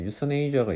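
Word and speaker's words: euthanasia: 아무튼 그래서 여기서 보시면은 이제 유서네이저가 있고 안락사하고, 그 다음에 여기 맨 밑에 있는 거 완곡어법 해가지고 유퍼미즘이 있죠. 강세가 유퍼미즘이에요. 앞에 있는 거 앞에. 유서네이저는 뒤에 있는 거고.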